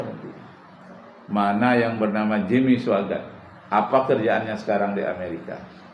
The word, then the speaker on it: Swaggart: Swaggart tuh tulisannya Swagarte. Bacanya Swaggart. Suanya itu pakai W.